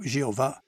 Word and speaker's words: Jeová: ou j V em português esse nome é hebraico é geralmente pronunciado Jeová Atos Capítulo 15 Versículos